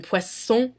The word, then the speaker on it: poisson: However, in words very similar to that, where there are two S's, an S is pronounced as an S. Like in poisson et dessert.